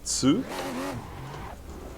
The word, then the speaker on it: Tsu: That is TSU, Tsu. So I don't know if you picked that for a different reason, but that happens to be how you pronounce it if you speak the Japanese.